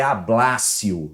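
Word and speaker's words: ablatio: Se escreve ablátio, mas é ablácio.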